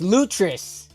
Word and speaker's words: Lutris: L Oh, it's Lutris. Then how come it's Linux and not Linux English? Am I right? Okay. Damlin's like basite I'm awake. Yo, where did where did it go? Where did Lutris go?